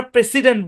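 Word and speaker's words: president: ওকে, এটা খুবই কার্যকরী একটা রুল, এস এর দুই পাশে ভাওয়াল থাকলে এস এর সাউন্ডটা জেড এর মতো হবে। তারপর খেয়াল করেন, যদি দেখেন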